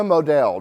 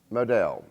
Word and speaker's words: Modell: Cynthia Modell, not pronounced model. Modell.